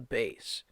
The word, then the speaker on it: bass: have the lowest instrument it's called the bass not to be confused with a bass bass as a fish a bass is an instrument they are spelled the same but it's very important